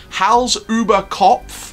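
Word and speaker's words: Hals-über-Kopf: Now, you've got to remember, Hal's Uber Kopf, that's how it's pronounced, which is the suspended thrill coaster coming to Tripsdrill, apparently this year.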